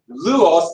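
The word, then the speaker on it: Lajos: It started in Hungary, and in Budapest, Lujos, now that's the actual pronouncing of Louis, but it's Louis Kossuth.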